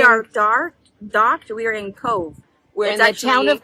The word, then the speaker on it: Cobh: We're on, but where we are docked, we are in Cobh. We're in the town of Cobh in the county of Cork. Yes, and we are, it's spelled C-O-B-H, but the B-H says the B sound.